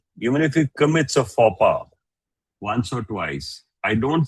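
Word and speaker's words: faux pas: and highlight a word it's not fox pass It's for the X is silent.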